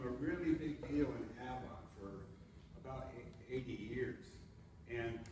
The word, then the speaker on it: Avon: And it was always pronounced Avon, not Avon?